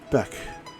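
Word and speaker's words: beach: word for b is beck pronounced with a soft ch sound in the back of your mouth in old irish it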